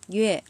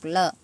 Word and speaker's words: 乐: Chữ này là có hai cách đọc ha. Khi lúc đọc duê và lúc đọc lơ.